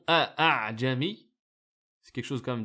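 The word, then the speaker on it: أَأَعْجَمِيّ: Donc vu la difficulté de prononciation a'jami, c'est quelque chose quand même d'assez lourd à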